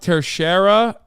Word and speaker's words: Teixeira: he got vac banned IRL yeah true it's pronounced tercera not that it matters sorry some people leak